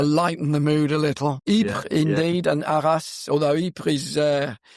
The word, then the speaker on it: Ypres: Ypres, was it? Ypres will work as well, because the Flemish have their own pronunciation.